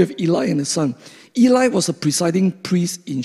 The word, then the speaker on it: Eli: know the story of eli and his sons i actually prefer to pronounce as a hebrew pronoun ely and his sons but you grow up with pronunciation like that the western pronunciation so i think i